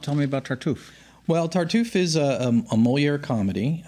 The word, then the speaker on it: Tartuffe: season well you're opening up September 8th with tartufe tonight no e on the end no even though it's a French word yeah no Accent on the East okay tell me about tell me about chartreuse well tartuffe is a a molier comedy uh Moira was